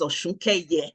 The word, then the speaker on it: Osunkeye: My surname is Osunkeye. Oh. So I suspect it's the same Eye as your own Eye, right?